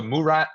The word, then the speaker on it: Murat: Right at the Murat Theater. Is that how you say it? The Yeah, yeah, Murat?